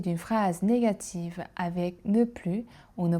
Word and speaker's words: plus: Mais si on veut dire je travaille davantage, il faut prononcer le s pour marquer la différence.